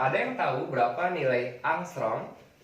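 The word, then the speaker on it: ångström: Nah, ada yang tahu berapa nilai angstrom? 1 angstrom dibacanya angstrom, yaitu 10 pangkat min 10 dalam satuan meter.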